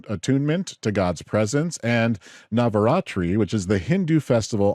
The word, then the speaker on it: Navaratri: Navaratri is how you say it. Navaratri.